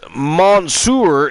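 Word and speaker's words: Mansoor: male models mace and Monsur now produced or sorry pronounced as Monsour and uh mace in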